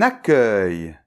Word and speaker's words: accueil: Donc cette fois-ci, on a deux C, mais ça se prononce toujours [k]. D’accord ?